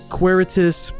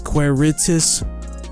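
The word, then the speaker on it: Quaeritis: really good card uh queretis people call i don't know why people pronounce this card wrong i think it's pronounced as queer ritus at least it's right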